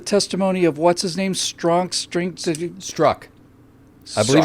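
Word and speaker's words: Strzok: of what's-his-name strong strength struck absolute your name is pronounced struck it's pronounced struck yeah yes I saw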